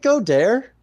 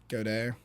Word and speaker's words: Goddard: I do think it's Goddard if we're pronouncing it how You it's supposed to think be it- pronounced, but But you like the Go Dare? you know, it's one of those things where that's how I started pronouncing it. I heard one person pronounce it like that when he was first coming up, and it's just been stuck in my brain as how I say it now.